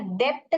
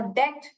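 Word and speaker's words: debt: have lot ऑफ डेट अभी इधर डेप्ट करके नहीं पढ़ने का इसका मतलब क्या है कर्जा ओके तो बी जो है साइलेंट है ओके तो डेट डेट आई हैव लड ऑफ डेट डे करके पढ़ने का डेप्ट करके बी जो है साइलेंट है बी नहीं प्रोनाउंस करते हैं वहा पर ओके आव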